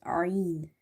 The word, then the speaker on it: ع: And in the word ain is from the middle throat. Okay, so our throat is divided into three parts: lower, middle, and upper. And from the middle part of the throat, you have to pronounce ain. And this sound is very unique and different. But if somebody say a'taina, then it will replace this, ain will replace itself with the hamza sound.